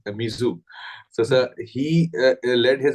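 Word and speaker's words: Muizzu: So the new elected president, President Muzi, rather pronounced as Mizu.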